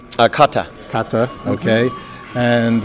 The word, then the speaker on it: Kata: We're believers in the Dalai Lama and are in the Kati, if I say it right. Kata.